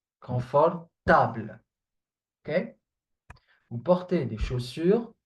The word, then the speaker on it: confortable: It is the same word as in English, but try to not do the mistake of pronouncing it comfortable. Okay? Many do this mistake. Comfortable. Table, not comfortable. Confortable.